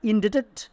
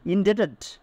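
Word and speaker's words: indebted: উই আসবে উই আর ইন্ডেটেড এটার উচ্চারণ আই এন ডি বিটি ইডি ইন্ডেটেড বি এর উচ্চারণ হবে না উই আর ইন্ডেটেড টু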